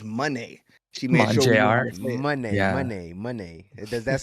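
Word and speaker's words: Moné: Money.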